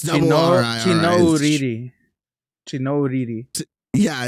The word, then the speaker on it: Chinouriri: other song is Never Need Me by Rachel Chinoriri. I don't really know how to say her last name, but it's Rachel. And then the last name is CHINOURIRI. It's double R-I-R-I. Chinoriri.